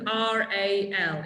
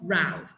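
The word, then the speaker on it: RAL: in English we don't this company is called r a l it's not Rao okay it is important that we you know you pronounce each letter separately okay and that's valid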